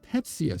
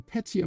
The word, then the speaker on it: pecia: Now, in the Pecia system, here's how it's spelled, P-E-C-I-A.